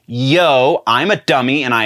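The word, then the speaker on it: Yeoh: i was saying michelle oh or at least it sounded like i was saying michelle oh it is not oh it's yo i'm a dummy and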